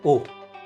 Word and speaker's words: を: जब हम लिखते हैं जैपनीज पार्टिकल ओ को, हम लिखते हैं WO, बट जब हम इसको प्रोनाउंस करते हैं तो हम प्रोनाउंस करते हैं ओ।